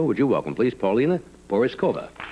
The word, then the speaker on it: Porizkova: I was I was accused a couple of times tonight of mispronouncing your name which I may have done it's Pauline it's a very hard name to pronounce everybody has Forrest Cova what did I say before Peter port Zhukova yeah that's a small harbour